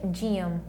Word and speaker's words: gym: Olha só a pronúncia, gym. Gym. Meus lábios se tocam, bilabial.